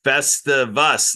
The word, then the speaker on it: Festivus: Yeah, it's Festivus, like festival, Festivus. Festival about us is Festivus.